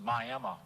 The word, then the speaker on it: Miami: I finally show up on July 17, 1930 in Miami, Florida, pronounced Miami, by the way.